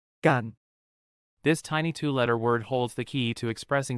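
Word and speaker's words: กัน: Gone is pronounced with a midtone and a long vowel. Kind of like saying gone but cutting it short.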